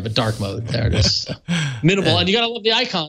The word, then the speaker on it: mnml: learning my friends Wow minimal launcher or Manimal launcher if you really want to play around with how it's pronounced that's up to you minimal been a minimal it's actually minimal you